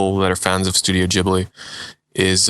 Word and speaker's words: Ghibli: to say it because I've just taught myself to say Ghibli, but that is the correct way of pronouncing Studio Ghibli.